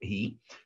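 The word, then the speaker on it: הוא: «Шаббат ги», несмотря на то, что здесь стоит буква «вав», читается это слово как «ги», который такой бывает, это суббота лашем Богу.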